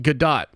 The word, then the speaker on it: Gadot: Brandon de Lumpa says bruh it's pronounced Gadot thanks uh Jimmy bones